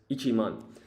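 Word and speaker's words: 一万: And then this is ichiman. So with 10,000, when you have it on its own, you're supposed to put the ichi in front.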